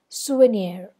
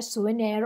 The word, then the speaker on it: souvenir: long or stressed syllable souvenir so were they are both unstressed and near is the stressed syllable so debonair souvenir all these are uh